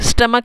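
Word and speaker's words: stomach: sniper एक चाकू लेता है डेस्क सिस्टम आफ स्टमक की स्पेलिंग एसपीओ एमएमसीएच आप इसको स्ट्रेच मत पड़ना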